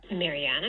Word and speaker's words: Mariana: So the stressed syllable of Mariana is the third syllable, the A of the Anna part. That has a low star here. Mariana made the marmalade.